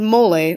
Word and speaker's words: mole: have moles and then this is mole a which isn't a mole but it's spelled the same way and incredibly delicious so I